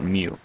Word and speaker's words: mu: little u-shaped thing with a tail and we pronounce that mu so this is called mu and the symbol